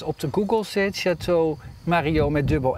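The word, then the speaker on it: Marillaux: De 2 L'en spreek je niet uit. Nee, ik spreek uit dus een J.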